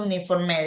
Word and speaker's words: uniform: The pronunciation it's U, uniform, right? Same thing as university.